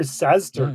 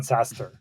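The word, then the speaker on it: SaaStr: I mean I I hear saster quite a lot. Not sastaster. Right.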